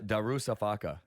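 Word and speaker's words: Darüşşafaka: Darusafaka.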